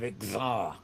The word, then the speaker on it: Xzar: is we're talking about is the land of Xar, which is spelled XZAR.